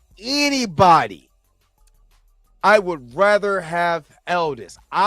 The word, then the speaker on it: Aldis: I would rather have Aldis. Elders. I'm saying it right. Aldis Hodge.